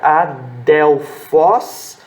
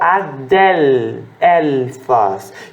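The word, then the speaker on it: ἀδελφός: som de Ciele aqui pode ser pronunciado como um u1 aportuguesado ou o l do hebraico é lido hebraico ele não tem som de u tá o Wesley no hebraico ele tem um som mais para o seu da língua que você pode optar adelfós com som de u ou Adele faz então você pronuncia mais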